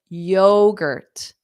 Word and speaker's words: yogurt: breakfast what flavor of yogurt so we have that strong yo like yo yo very informal way of saying hi or hello yo and then the gur T is unstressed so it sounds like Girt Girt Girt